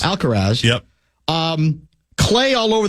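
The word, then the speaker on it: Alcaraz: And it's a shot of Carlos, how do you pronounce his last name? Alcarz. Alcarz. Alcarz.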